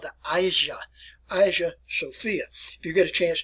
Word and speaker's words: Hagia Sophia: Today it is referred to by this title here, and I'll pronounce it for you as you look at it anyway. It's called the Hagia Sophia.